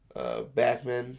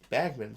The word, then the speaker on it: Bachman: the bandits the bandits Backman from Beckman Turner overdrive and people are like bagman section pronounce Bachman I'm like ah at that concert he's like my name is Franz Backman it's was pronounced wrong who got stuck and